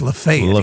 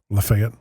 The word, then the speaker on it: Lafayette: Either that or you know they're not from around Nashville, because they'll say it Lafayette Street. Mm-hmm. It's Lafayette. Here. Yeah. So, that's the southern way to say it, right? Lafayette.